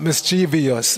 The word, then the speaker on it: mischievous: A lot of times, at least in America, people mispronounce this word. They put an I after the V. They say mischievous, but there's no I after the V. It's not mischievous, it's mischievous.